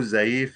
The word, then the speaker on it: ZEEF: so scoop pinterest all under this family and zaif also is here is this correct prof yeah because in urdu zaif is the old person elderly yeah says thanks